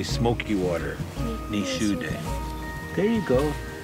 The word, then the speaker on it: Nishudeh: Ni Shude. There you go. Ni Shude, Missouri River.